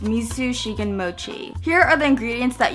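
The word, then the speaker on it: 水信玄餅: The raindrop cake is otherwise known as water cake, unicorn tear, edible water bottle, and in Japanese, I believe it's pronounced misu shigen mochi.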